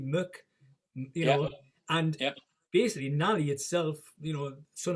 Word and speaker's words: Mac: is son of, and it's spelled obviously Mac MAC Muck, and basically Nally itself, son of the poor man, is what it means actually.